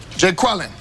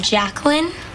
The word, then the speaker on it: Jacqueline: Jay Quellen. Where's Jay Quellen at? No Jay Quellen here? Yeah. Do you mean Jacqueline?